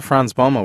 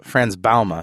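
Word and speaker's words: Frans Bouma: know I talked to fron Bulma with Richard today in a show in a doet rock show that we're uh France balma excuse me he corrected me on his pronunciation he's the author of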